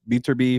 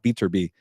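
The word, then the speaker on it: Beterbiev: it could be bivo or maybe uh uh beer be from Russia those guys need to fight by the way a Bibble and beater be I gotta say his name properly my bad uh beater be but uh yeah obviously you got Terence Crawford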